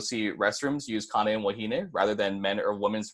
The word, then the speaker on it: wahine: Wahine is pronounced wahine. So once again, something easier to pronounce there.